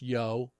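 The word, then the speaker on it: giỗ: Okay, it's pronounced yo.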